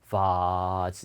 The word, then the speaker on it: vase: 예, 이 장모음은 무조건 길게 발음하는 게 아니라 약간 이 꺾임이 있어요. 그러니까 vase 이렇게 길게 하는 게 아니라 va 이렇게 vase 이렇게 읽어요.